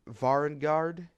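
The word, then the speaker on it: Varanguard: But the normal Slaves to Darkness aesthetic with your Chaos Warriors, your Varangard, if I'm pronouncing that correct, Varangar, I believe that's how it's pronounced.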